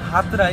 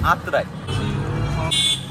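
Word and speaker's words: আত্রাই: ক্যামেরাতে দেখা যাচ্ছে না আমি উচ্চারণে ভুল করছিলাম আমি বলছিলাম হাতরায় কিন্তু ওটা হাতরায় না ওটা আতর দাদা নিয়ে এসে গেছে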